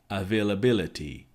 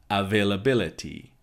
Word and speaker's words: availability: our fail bailar T availability availability but notice how those syllables need to stop and separate availability availability someone being